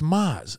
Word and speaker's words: Maz: his nickname was yes i'll call you i was like it's maz but you can't right that's the problem with